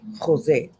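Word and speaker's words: José: Jose. Okay, because the J is silent in Spanish.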